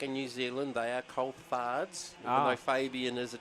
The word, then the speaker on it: Coulthard: Carter Coulthard, not Coulthard. Coulthard. Always got taught by Fabian and his dad Ricky back in New Zealand. They are Coulthards, even though Fabian is